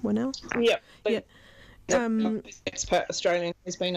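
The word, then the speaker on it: Whannell: Is that how you pronounce his name? Winnell?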